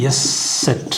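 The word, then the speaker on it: Eszett: இது உச்சரிப்பு வந்து இஸ் கொஞ்சம் ஸ்ட்ராங்கா இஸ் இதுதான் உச்சரிப்பு அதனுடைய இதை வந்து எஸ் செட் அப்படின்னு சொல்றாங்க கூப்பிடும்போது எஸ் செட் இல்லனா குரோசஸ் எஸ்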